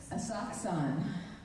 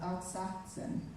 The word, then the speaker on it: Asakusa: Asakusan. Okay, I think I got that in the next one. Yep, Taito City. Welcome to Asakusan. Asakusa, that's American pronunciation. Akaska. How do you say it? Asakusa.